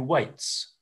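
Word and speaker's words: Waites: And then in terms of more individual researchers, there's a researcher called Matthew Waits, which is spelled W-A-I-T-E-S, who's been working on consent and sexual consent probably for 25 years and has produced a book specifically.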